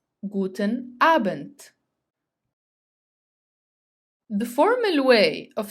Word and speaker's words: Abend: till 11 p.m., you say Guten Abend, Guten Abend, which means good evening. Note here that if the letter D comes at the end of the word, it is pronounced as T, T. Guten Abend.